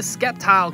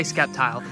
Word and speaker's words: Sceptile: come out next now I know some of you gonna get on me for pronouncing it skeptile but that's how I've been saying it since I was 12. so we're gonna say Sceptile now we know he's